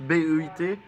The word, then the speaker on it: Beit: Le grand rabbin Haïm Corsia, oui, avait rencontré le président Alain Beit, enfin, je sais pas comment ça se prononce, B-E-I-T, BEIT?